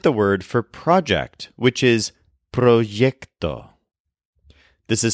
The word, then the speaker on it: proyecto: with the word word for project which is proo this is spelled p r y e c proo for example they're going to help me with